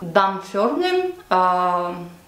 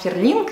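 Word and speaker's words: Dumfries: дам фирме dandi и именно так произносится эти шотландские города я сверяла это с англичанами потому что когда я рассказывала им куда я ездила они говорили что я неправильно произношу это firming я говорила и dum di и стирлинг на самом деле все звучит по-другому поэтому название этих городов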